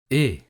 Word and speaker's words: et: Et. Et. Et. You see, you don't pronounce the letter T. This letter is mute. You don't pronounce it. It's et.